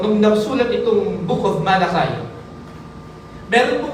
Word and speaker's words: Malachi: palitan ng pangalan ninyo, Malachi, Malachi. Pero Malachi ang pronunciation niya.